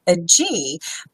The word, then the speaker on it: Agee: treat we're going to be speaking with Angelique a G please tell me Angelique I know you're not in yet but did I pronounce your name correctly d AG AG okay